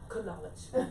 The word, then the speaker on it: knowledge: I said, when you look at every letter, every English letter is silent. Yeah. In some word is silent. Like, how is this possible? I was like, knowledge.